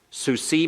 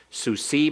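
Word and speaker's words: סוּסִי: this is tricky but if you keep Sushi and suicide in your mind so see my horse suicide my horses so see my horse who sigh my horses everyone repeat it so see my horse suicide my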